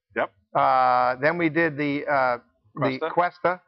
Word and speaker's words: Cuesta: Cuesta is a 13th century word. It's actually a French word, and in California we tend to pronounce it with more of a Latino accent, Cuesta, but it's quest, search,